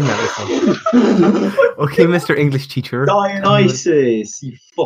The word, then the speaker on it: Dionysus: you just tell me that again how you're pronouncing that the honest as I've never seen anything ok mr. English teacher Dionysus mom okay thank you well